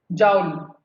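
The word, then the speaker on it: joule: The unit of work is denoted by जूल और kilo जूल। Someone pronounce as जाउल और kilo जाउल। समझे? Work की unit क्या होगी? जूल, या जो जाउल भी कहते हैं, या किलो जूल।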